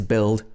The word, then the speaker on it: build: make mistakes with words with a silent u for example build also words which come